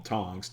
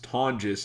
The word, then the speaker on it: Tonjes: And by the way, I've been calling him Tongs. Tonjes is the pronunciation.